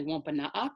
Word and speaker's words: Wampanoag: reclamation project um although that spelling right there of of wampanoag is actually wampanoag so that's the the wampanoag pronunciation wampanoag is more like the anglicized pronunciation um so wlrp serves